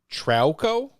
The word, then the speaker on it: Trauco: Miguel Trauco, is that the pronunciation?